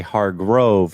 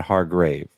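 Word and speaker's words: Hargrave: then you have to say har Grove not har grave so it's Jerome har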